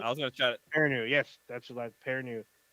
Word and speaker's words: Perrineau: Perrineau. Yes, that's the last Perrineau. Very long, but it's pronounced very short.